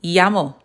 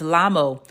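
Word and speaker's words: llamo: That's the name of that letter and it's going to make the y sound.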